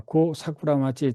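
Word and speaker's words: 後桜町: 그다음에 두 번째 또 여왕이 있습니다.요 천왕이 그 고사꾸라마지라고 읽는데 1번 말 고사꾸라마치 텐가 1962년에서 77년까지 천왕이 됐어요.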